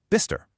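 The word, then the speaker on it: Bicester: So a town spelled B I C S T E R is just Bister.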